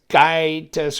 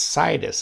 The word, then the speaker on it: Scitus: the yeah cytus okay not Sky test or whatever it's cytus I think it's like s-i-t-e-us type type pronounce purple purple G10